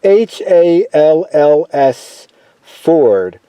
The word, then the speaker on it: Halls Ford: That is Halls Ford, like Ford car. It's spelt the same way.